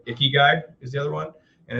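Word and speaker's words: ikigai: every day and then um i think i pronounced this right icky guy is the other one and it's basically the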